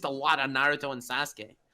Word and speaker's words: Sasuke: grow like Naruto and Sasuke, and they're not my favorite characters in Naruto by a long shot. Nux, could you please stop the cultural appropriation and pronounce Sasuke properly?